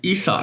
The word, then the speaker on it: Esau: I know it's pronounced Esau now.